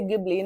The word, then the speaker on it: Ghibli: When he wrote it in Japanese and the way he said it was, I'm not going to have the correct pronunciation, but Ghibli. Okay, so Ghibli. So that is what he said, and that is how you say it in Japanese. In Italian, you will say Ghibli.